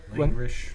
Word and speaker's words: Langrish: They say in the show, Langrish. Yeah. It sounds like languish, you guys pointed out.